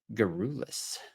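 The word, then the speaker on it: garrulous: Today's word is gerulus. Gerulus. It's a difficult word to pronounce.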